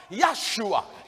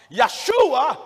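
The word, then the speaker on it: ישוע: the hebrew alphabet so the name joshua in hebrew is correctly pronounced yahshua yeshua in hebrew or in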